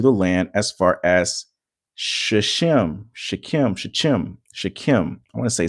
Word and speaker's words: Shechem: Shechem. I want to say that's how it's pronounced.